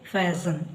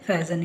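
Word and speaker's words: fasten: ಅದಲ್ಲಿ ಈ ಪದಗಳಲ್ಲಿ ಇಲ್ಲಿ ಲಿಸನ್ ಹಾಗೆ ಫ್ಯಾಸನ್ ಇಲ್ಲಿ ನ ಉಚ್ಚಾರ ಮಾಡ್ತಾ ಇಲ್ಲ ಲಿಸನ್ ಮತ್ತೆ ಫ್ಯಾಸನ್ ಇಲ್ಲಿಎಸ್ಟಿಎನ್ ಇಂದ ಈ ಪದಗಳು ಎರಡು ಪದಗಳು ಕೊನೆ ಆಗ್ತಾ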